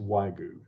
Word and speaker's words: wagyu: company wagyu there's a there's a y it's pronounced waigu not in this house